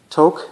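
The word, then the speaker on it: Taake: is the first pressing of a band called toc it's spelled t-a-a-k-e the album is not the steed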